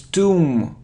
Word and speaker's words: tomb: Tom it isn't Tom it's Tom Tom so we don't pronounce b and it's a long sound o Tom look look it isn't